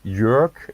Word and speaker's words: Joerg: is your pronouncer yeah york is the first name right yeah and the